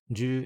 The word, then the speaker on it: 十: For pronunciation, the Middle Chinese ancestor of most modern pronunciations was jiep. This becomes shi in Chinese, ju and ji in Japanese, and ship in Korean.